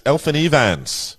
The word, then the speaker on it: Elfyn Evans: Elfyn Evans, to give it the Welsh pronunciation.